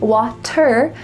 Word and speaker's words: water: Well, it's not a t sound. Water. Instead, it's a d. Here we have again the t is changing to a d. This is typical in American English.